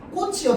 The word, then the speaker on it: 꽃: 꽃이요, 지금 치읓 받침으로 표기되어 있는데 발음될 때는 뭘로 발음돼요? 디귿으로 발음되지.